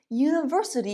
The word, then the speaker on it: university: because of the sound university is pronounced yup we have the y consonant sound again he is a unique